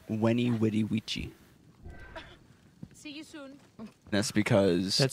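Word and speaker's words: veni, vidi, vici: gyptian what'd he do you know the phrase veni vidi vici in the time of Julius Caesar it was actually pronounced when he witty vici that's because it sounds less cool yeah and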